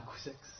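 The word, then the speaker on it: Couzeix: Et à 10 km de Saint-Thirier-la-Perche, il y a un village qui s'appelle Couzex, et là on dira Couzex, parce qu'on est passé du côté de l'Oï.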